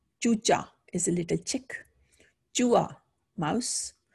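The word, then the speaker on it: चूहा: Chua, mouse. It's, we write this as chuha, but we say chua.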